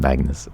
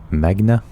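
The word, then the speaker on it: Magne: So, it's uh, it's not Magnus, it's Magna, isn't it? So, it's it's it's Norwegian.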